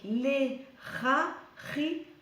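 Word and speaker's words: Lehahiah: Alors, ça s'écrit L-E-H-A. Donc là, tu prononces R. L'Era. H-I. L'Erari. Et A-H. L'Erari-Har.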